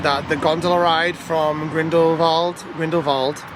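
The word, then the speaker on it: Grindelwald: the gondola ride from grindle va grindle va I kept saying grindle Wald all day grindle it's spelled grindle Wald but it's grindle VA um up to the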